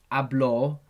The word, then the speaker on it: hablo: example, hablo. the accent is on the A.